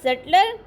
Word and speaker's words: sutler: दूसरा सटलर है, इसमें बी साइलेंट है, जो फर्स्ट वाला था दूसरे में बी है, उसको ख़त्म ही कर दिया है। SUTLER, सटलर, follower of army.